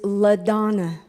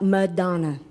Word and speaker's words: LaDonna: It is LaDonna. It is not Madonna.